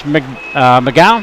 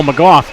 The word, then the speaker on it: McGough: And for his defensive partner, that is James McGowan. Hope I pronounced that right. No, McGough.